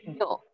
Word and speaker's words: 寮: 寮。寮と読みます。